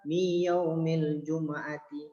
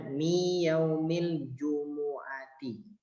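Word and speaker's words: يَوْمِ الْجُمُعَةِ: Ada orang bacanya kadang-kadang miyaumil jumu'ati. Nah, salah ya. Kalau dia dibacanya sukun maka salah. Pada kalimatnya adalah domah. Nih ya, domah. Bacanya miyaumil jumu'ati. Seperti itu ya. Itu yang sering orang-orang salah membacanya.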